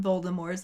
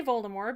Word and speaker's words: Voldemort: But maybe Ron just doesn't like when people say Voldemort because he finds the silent T at the end to be pretentious as fuck.